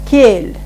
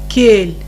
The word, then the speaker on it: кель: Пожалуйста, попрошу вас повторить за мной звук бель, жель, кель. Оборотное эль, эрик, киши. Попрошу прочитать, пожалуйста, эти слова правильно. Попробуйте. Бель, Да. жель, кель. Все нормально, только смягчать не бойтесь звук. Как будто стоит мягкий знак.